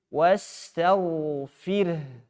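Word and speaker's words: واستغفر: Wastaghfir. Fir. Ra tebal tipis. Ra tipis ya, sebelumnya kasrah. Kemudian haknya disukunkan. Fir.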